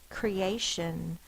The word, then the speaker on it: creation: Now, E-A looks like it would be a vowel team to say the E sound, but then what sound would say the A? Creation. So it's a cree, that's an open syllable, the vowel is long. A is another vowel sound. It's an open syllable. It says it's long sound.